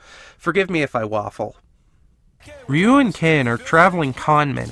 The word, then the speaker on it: Ryu: We then cut to our B-plot guys, Ryu and Ken. The proper pronunciation is Ryu.